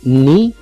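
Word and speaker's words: knee: यहाँ पर जो के है इसे हम साइलेंट रखेंगे, शुरू में आया है के, ठीक है, तो ये यहाँ पर साइलेंट है।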